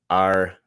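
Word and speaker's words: Aretusa: It's called a fountain in Italian, but it's a spring, and it is the spring of Artusa, right? Because you don't pronounce th.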